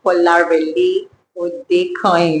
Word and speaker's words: Kolarele Odekanyin: Kolarele Odekanyin. It's a pleasure. I'm happy I pronounced your name correctly.